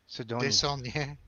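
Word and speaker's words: Desaulniers: Desonnier. So you can say her name. It's Brienne Sidonier. Desonnier.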